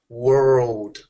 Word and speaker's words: world: okay world word and the biggest difference between that is just that dark l in the middle world